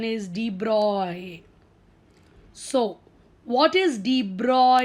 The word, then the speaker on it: de Broglie: l i e most of us think it's d broccoli correct but the correct pronunciation is de bruyne so what is the broad equation so whenever we say b-r-o-g-l-i-e it's d braw he was a french scientist lewis d broy